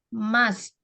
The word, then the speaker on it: must: Pronunciation-nya salah. Apa? Must. Must. T-nya di Must. belakang.